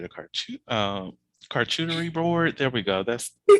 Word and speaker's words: charcuterie: That's how do you pronounce that fucking word? Uh, I can. Charcuterie board. Oh, yes. Now, why you say? Now I said. Now I'm thinking shark coochie, and I don't want to be in this place.